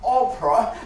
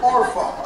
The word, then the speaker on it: Orpah: One of the girls' name was Ruth, and the other girl was Orpah, not Oprah, but Orpha, okay? I'm trying to pronounce it rightly, okay?